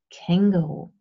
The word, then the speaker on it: Känguru: In German you stress the first part, so it's kangaroo.